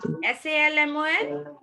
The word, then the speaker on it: salmon: S-A-L-M-O-N? Salmon. Yes, L is silent.